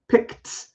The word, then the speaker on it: picked: Also, now this one, because it ends in a k or x sound, actually is a T sound for the ED. So I don't say picked. I don't say picked. I actually say picked.